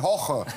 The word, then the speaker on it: Jorge: nameen sagen ja ja diese Woche koche mit hoche vorher koche mit hochen ja ja hoche aber